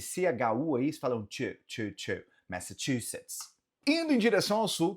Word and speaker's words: Massachusetts: Indo um pouco mais ao norte, o terror de muita gente, o estado de Massachusetts, Massachusetts, Massachusetts. Sim, Massachusetts. Nota que esse CHU aí eles falam ch, Massachusetts.